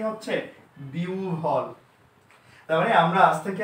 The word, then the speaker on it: বিহ্বল: বিহব্বল? Absolutely not. এটা হবে, যেহেতু হ ব এর পূর্বে ইকার আছে তার মানে হটা হবে উ, বটা হবে ভ। তার মানে উচ্চারণটা কি হচ্ছে? বিহ্বল।